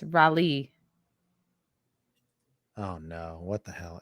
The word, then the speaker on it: Raleigh: at raleigh and it's rally oh no what the hell it isn't two words of course it's one word raleigh rally he's saying it's rally rally not rowley i'm not saying rolly rolly but this person